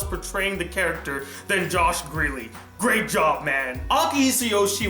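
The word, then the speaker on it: Grelle: I just found out that his name is pronounced Greeley and not Grail, so I apologize for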